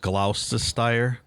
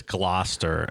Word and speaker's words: Gloucester: should have not pronounced gloucester how is it pronounced it's gloat it's glow chester final answer i believe it's gloster and the guy was